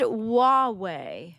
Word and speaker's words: Huawei: But it's pronounced Huawei. Huawei? All right, fine. Huawei.